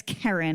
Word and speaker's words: Kerryn: not like the Karen your name is it's Karen it's k e r r y n my mother just had